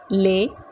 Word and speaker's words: les: la la ma the combination sound of es is a so here we are pronouncing it as lay mes will be may